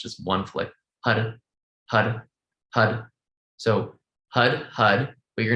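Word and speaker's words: Har: so we just chanted hud it's spelled h-a-r but all the r's are sound like d's because we flick it onto the root for the mouth like you do rolling your tongue but it's just one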